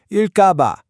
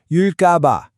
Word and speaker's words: 을까 봐: That first sound in ga isn't a soft G sound. It's a tensed ge sound. So you really want to hit it. 일까봐. Practice that a few times. 일까봐.